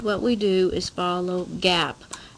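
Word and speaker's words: GAAP: we do is follow gap now gap is spelled over here generally accepted accounting principles it's called gap and gap are the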